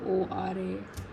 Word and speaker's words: Quora: Maybe I've started answering questions on Quora, however you pronounce it. It's Quora.